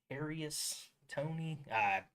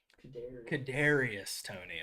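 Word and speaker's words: Kadarius Toney: It's just Kadarius. Kadarius Tony.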